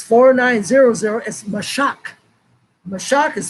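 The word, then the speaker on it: משך: word and it's four nine zero zero is mashak the shock is spelled m a s h a k m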